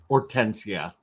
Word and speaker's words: Hortensia: Or how do you pronounce it? Hortensia.